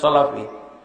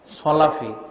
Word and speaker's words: সালাফি: উনি বলছে আপনার সাথে আমি কোনো কথা বলবো না, আমি বুঝে ফেলেছি আপনি সলাফি। সলাফি উচ্চারণটাও সহি নয়, সলাফি আসলে তো সালাফি হবে, খলাফি বলে, সলাফি বলে, এই উচ্চারণ সলাফি।